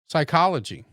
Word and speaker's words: psychology: Psychology. What's silent? The P. The P. Right. Knife. What is silent?